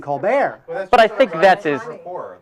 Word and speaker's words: Colbert: Now, how about Stephen Colbert, who changed the pronunciation of his name to Stephen Colbert?